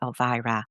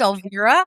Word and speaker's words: Elvira: And so, without further ado, I am honored to introduce the amazing goddess Elvira.